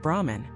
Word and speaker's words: Brahman: Beyond Brahma, Vishnu and Shiva, Hindu philosophy speaks of Brahman, not Brahma, the creator, but Brahman spelled with an a at the end.